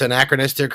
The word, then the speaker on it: anachronistic: So it's anachronistic or anachristic, as I've been told. I've been saying it wrong. Anachronistic.